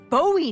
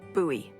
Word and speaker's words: Bowie: out this huge Rusty Bowie knife it's actually pronounced buoy what no it's like the last name like David Bowie different last name buoy are you just